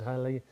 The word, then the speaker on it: Halley: The Comet was discovered by Edmund Halley. And it's actually, you pronounce it Halley, apparently. I've been corrected so many times.